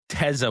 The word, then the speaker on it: Waltez: We got Waltez Waltez, when you say his name I want spit to fly out of your mouth. Put put some emphasis on the T.